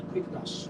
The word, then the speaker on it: Quickedash: It's spelled Q U I C K E D A S H. Quick dash.